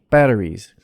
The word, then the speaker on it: batteries: she but say c batteries the s in batteries of course gets voiced into a z sound it's plural after battery